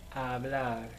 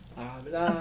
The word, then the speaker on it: hablar: It begins with a silent H. Hablar. Hablo. Hablar.